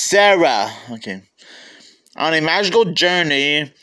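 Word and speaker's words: Cera: pet Tree on a magical journey wait that's pronounced Sarah okay on a magical journey that begins a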